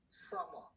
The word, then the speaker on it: summer: summertime 그러는데 M이 두 개인데 발음 하나만 해요. 그래서 발음하면 summer 이렇게 한다고. 응?